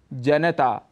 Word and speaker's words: जनता: जनता लेकिन इसका शुद्ध उच्चारण है जनता यहां पर न में जो अ स्वर है उसको हम छोड़ देते हैं जिसे हमें नहीं छोड़ना चाहिए और पूरा बोलना चाहिए जनता ऐसे ही आकाशवाणी इसका